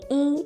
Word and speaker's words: 一: When 一 is used as a numeral in sequence, such as when you're counting, it is the first flat tone.